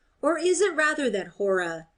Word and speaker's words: Hora: Or is it rather that Hora, as now they call her, the first syllable pronounced long, being a kind of